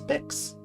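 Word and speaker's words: Mx: Yeah, specifically we were talking about the pronunciation of the gender neutral honorific mix, which I generally pronounce mix.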